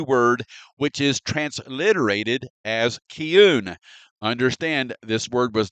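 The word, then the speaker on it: כִּיּוּן: Okay, so now let's research this first unique Hebrew word, which is transliterated as kiun. Understand, this word was not translated. This is how you pronounce this Hebrew word, kiun.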